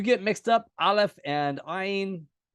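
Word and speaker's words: עין: It's okay if you make them sound the same. Most Israelis make them sound the same. Ayin and aleph. I tend to try to pronounce the ayin at least a little bit, but I lived in Jerusalem.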